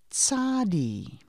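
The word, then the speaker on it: Tsadi: after pay which is Sadi it's pronounced like that TS sound T is the sound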